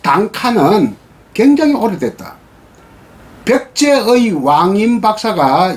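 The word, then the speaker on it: 短歌: 일본에서 단가라고 하는 것은 일본말로는 발음은 단카, 표기도 단카라고 합니다.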